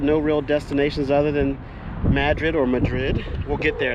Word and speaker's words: Madrid: wild hogs I think in the movie they pronounced it Madrid but I think in real life it's uh Madrid but so that's where